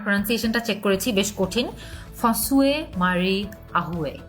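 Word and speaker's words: François-Marie Arouet: ফসুয়ে মারি আহুয়ে, এভাবে ওনার নামটা উচ্চারণ করা হয়ে থাকে।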